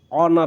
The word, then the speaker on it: honour: जैसे ऑनर होता है, HONOUR, ऑनर, ऑनर। अगर ओ पहले आया है तो एच हमेशा साइलेंट होगा।